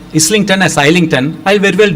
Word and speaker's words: Islington: pronounce like that but in India we generally pronounce it as I link 10 because the spelling is like that Isla and